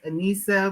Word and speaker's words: Anissa: is an my first name is actually pronounced Ana but go by so I like